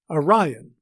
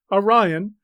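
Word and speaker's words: Arion: in act 1 scene 2 line 15 the name a-r-i-o-n is pronounced orion as the note in the riverside edition has it orion a greek poet and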